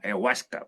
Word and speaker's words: Huasca: que es K, dice, es cuasca, huasca, huasca. Entonces, él lo va a escribir más puntualmente y va a decir, por supuesto, es cuau, o cuas, o guas. Tiene una pronunciación un poco más fina, si se dan cuenta. No es el U, el sonido H que es el U, sino el G, más parecido al K, de cuau, de árbol.